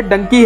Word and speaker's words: Dunki: king Khan ने कहा अंग्रेजी में मेरी फिल्म का नाम डॉन्की होगा लेकिन जिस तरह से भारत का एक हिस्सा इस शब्द का उच्चारण करता है वह डंकी है पंजाबी से डंकी कहते हैं मैं आपको फिल्म के